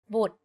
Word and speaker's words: บุตร: A word can have different meanings depending on if the vowel sound is pronounced long or short. For example, ติ and ตี The first word ติ with the shorter sound means to criticize. If you say it a bit longer, ตี it means to hit. Another example is บุตร or offsprings, and บูด or to be rotten.